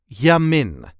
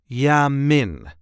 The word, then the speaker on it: Jamin: the way we say Yamin yam there is a light emphasis on the last part of the word Yamin y Min Yamin the